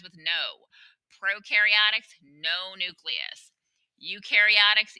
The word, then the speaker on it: eukaryotic: no prokaryotics no nucleus eukaryotics you rhymes with dew eukaryotics do have a nucleus